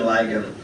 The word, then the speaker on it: Ligon: Is that correct? Ligon? Ligon. I get this so wrong I was getting it wrong last week too. Glenn Ligon is how you pronounce his last name.